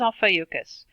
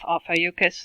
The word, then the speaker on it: Ophiuchus: this is alpha yuccas there's a lot of different ways to pronounce it that's very like the second preferred option but I'm always stumbling over my words so I like to be extra cautious and just go with off high yuccas not bears myself further